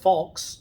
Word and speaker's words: falx: the hemispheres that's called the falx cerebri falx pronounced falx and cerebri meaning cerebrum it is a fold